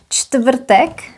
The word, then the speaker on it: čtvrtek: And this is an example of a word with lots of consonants together, čtvrtek, which curiously behaves. All the consonants are pronounced as they are normally pronounced. Č, t, v, r, t.